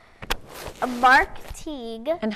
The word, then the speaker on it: Teague: is called a Mark Teague and how do we remember how to pronounce his name rhymes with League okay yeah that's good